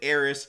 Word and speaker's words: Aerith: opinion of this show, we pronounce it Aeris. I understand people spell it Aerith, but... And so does the trailer. But you know what? I'm gonna say Aeris, and y'all gotta deal with it.